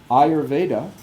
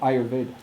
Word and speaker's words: Ayurveda: Ideally, it's not that you're removing that short vowel at the end, you're just pronouncing it very, very lightly. So Ayurveda. Ayurveda. I pronounce it Ayurveda, because I will distinguish between Ayurveda and Ayurveda.